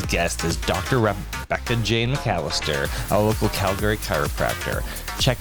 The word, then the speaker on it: Mallister: Rebecca Jane Mallister.